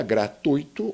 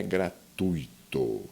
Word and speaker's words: gratuito: Aqui no caso, o gratuito, olha só, o ditongo é um encontro vocálico, mas 2 vogais na mesma sílaba.